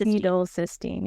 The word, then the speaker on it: N-acetylcysteine: is N-acetylcys- How do you say N-acetylcys- N-acetylcysteine, yeah.